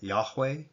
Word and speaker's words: Yahweh: There's no J sound in Hebrew. You go through the Hebrew alphabet, you're not going to find a J sound. Modern scholarship today believes that Yahweh is the proper pronunciation,